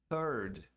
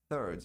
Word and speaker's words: third: A pronúncia de terceiro em inglês é third. TH, língua entre os dentes, produzindo um som de S. Third. Se você não pronunciar esse TH, pronunciar como um T só, aí vai soar como third.